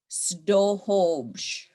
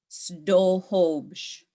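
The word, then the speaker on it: sduhubš: Snohobsh. Snohobsh.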